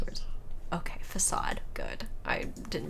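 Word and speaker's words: Façade: to check pronunciations because i know how to pronounce words okay facade good i didn't pronounce that weirdly okay known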